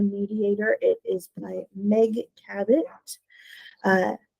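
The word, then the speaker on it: Cabot: it's called the mediator It Is by Meg cabit uh c o b o t but it's pronounced cabit highly recommend it's about a girl who can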